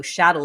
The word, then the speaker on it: chattel: How chattel is actually personal property, rhymes with cattle.